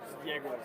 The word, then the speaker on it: Egor: Is it Egor or Yegor? Yegor. Yegor. Yegor, yes.